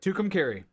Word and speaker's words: Tucumcari: Tucumcari.